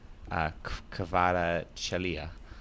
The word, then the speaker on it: Kvaratskhelia: I'm not sure how to pronounce it. Yeah, Kvarats. Oh, you're talking about Kvaratskhelia.